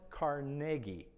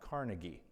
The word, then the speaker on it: Carnegie: And it is pronounced Carnegie, not Carnegie.